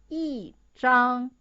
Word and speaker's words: 一张: You could see the first one, the original pronunciation is 一张. But actually, in your daily life, it's hard to keep the highest of it. So it changed into fourth tone. So the pronunciation is 一张.